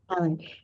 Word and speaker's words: Callan: Callan.